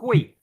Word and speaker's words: 会: अच्छा, ये जो हुई है इसको हम ह से नहीं, इसको हम ख से प्रोनाउंस करेंगे, हुई।